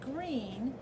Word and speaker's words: Greene: pigeon asked politely I'm your new student my name is green that's green with a silent e at the end and I just moved